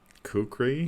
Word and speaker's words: kukri: it pretty funny anybody kukri ooh the best weapon ever made that rhymes with oak tree is that right no that's not correct no it's not correct but it sounded good